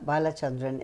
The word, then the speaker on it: Balachandran: women in Focus balachandran is our woman in Focus today am I pronouncing your name right B perfectly right good B Tik Tac